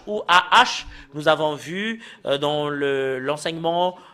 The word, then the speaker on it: ה: Et le fait de le prononcer, Nous allons le séparer ici, soit H ou AH.